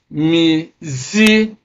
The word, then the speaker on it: musician: So stress is on the second syllable from the end of the word. So we stress it on this musician.